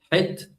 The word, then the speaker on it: het: I pronounce it as het, all right? It's a sound, so it comes from the throat.